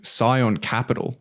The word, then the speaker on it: Scion Capital: So Michael Burry, he manages a fund called Scion Capital, I think is how it's pronounced.